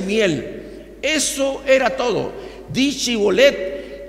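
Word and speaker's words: shibboleth: galitas le le preguntaban di shibolet Entonces ellos decían cholet y es decir los efraimitas por algún aspecto de su idioma no podían pronunciar la H hebrea ese entonces shibolet era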